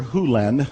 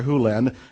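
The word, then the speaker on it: Hew Len: and it's actually Dr Hulen I've shortened it from E to Dr Len but it's actually Dr Hulen if you want to say his name correctly in Dr hen's world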